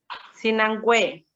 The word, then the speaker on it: Sinangoe: ¿Cómo lo pronuncias tú? Sinangue. Sinangue.